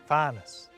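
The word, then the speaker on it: fànas: Up there, beyond the clouds, there's Fanus, space. Fanus, See that wee accent on the A? That makes the vowel long.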